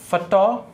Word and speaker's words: photographer: अब देखो इसको यदि हम ट्रांसक्राइब करते हैं, इसका ट्रांसक्रिप्शन होता है फोटेग्राफ, इसका प्रोनाउंसिएशन होता है फोटेग्राफ, ठीक है। इसका प्रोनाउंसिएशन होता है फोटोग्राफर, इसका प्रोनाउंसिएशन होता है फोटोग्राफर, ठीक है।